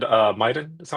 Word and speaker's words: Miden: So you said uh Miden. Is that how I pronounce it right?